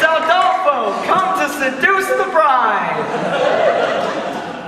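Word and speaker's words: Aldolpho: No. Not Adolphus. Adolfo. You must say it right, for when we are romanticizing, you must say the right name or it will spoil everything.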